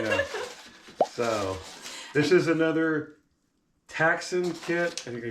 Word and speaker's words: Ktaxon: So, this is another Ktaxon kit. I think I said. I think the K is silent.